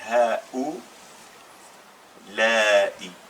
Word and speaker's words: هؤلاء: Mais comme on met une dhamma, ça fait ha ou la'i. Ha ou la'i. Mais on le prononce ha ou la.